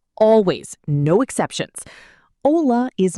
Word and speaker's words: hola: Repeat without the H sound. Hola. Hablar. Hotel. Hola, hablar, hotel. No H sound ever.